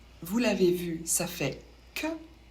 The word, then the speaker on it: que: Q et U, vous l'avez vu, ça fait que. On ne prononce pas le U. Et le E se prononce E.